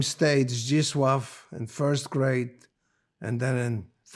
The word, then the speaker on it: Zdzisław: So the name was changed to Zdzisław, Z-D-Z-I-S-L-A-W, Zdzisław. And then when I came back after the war, I was rescued by my parents, the name stayed Zdzisław in first grade and then in third grade in Poland.